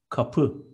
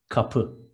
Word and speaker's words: kapı: Door is kapı in Turkish. Two short syllables and stress is on the second. Kapı.